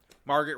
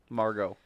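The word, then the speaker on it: Margot: they didn't have um Margaret Robbie as a nominee Margo Margo say it right bro you can't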